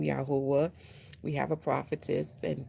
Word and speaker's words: Yahuah: So how you can get understanding, how did I come to this way of pronouncing His name, Yahuwah?